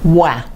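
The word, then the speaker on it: oie: So the goose is wah. Wah. Is how you say that.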